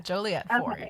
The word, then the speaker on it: Joliet: it but yeah it's it's like a Juliet but with an O and then that's a